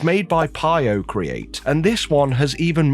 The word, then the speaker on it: PioCreat: So, the quick statement up front is that the founder of Pio Create, which I agree with you is a silly name, but this is how I was told to pronounce it.